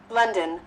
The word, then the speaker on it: London: Đó, bây giờ mình biết, xác định nó là ớ rồi nha. Nhưng mà nó không hoàn toàn giống chữ ớ trong tiếng Việt đâu. Nó là ơ, nó vẫn là tiếng Anh á. Giờ mình vẫn phải nghe lại, mình làm cho nó sang lên. Đó, biết là ớ, xác định trong đầu nó là chữ ớ nha, chứ không phải u o ơ gì nữa nha.